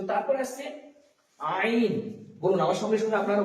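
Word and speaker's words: ع: তো কণ্ঠনালীর মধ্যস্থল থেকে উচ্চারিত হবে আইন।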